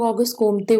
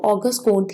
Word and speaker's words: Auguste Comte: Okay, इसके कई pronunciation है. कुछ लोग ऑगस्ट कोम्ते बोलते हैं, कुछ लोग कोम्ट बोलते हैं. What ever you feel like you can pronunciate it, बट ज़्यादातर इसको ऑगस्ट कोंट ही बोलते हैं.